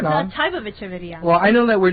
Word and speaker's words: Echeveria: It sounds like it's spelled like it sounds.